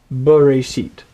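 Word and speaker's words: בְּרֵאשִׁית: The b is almost like a standalone syllable, and then reshit, bereshit.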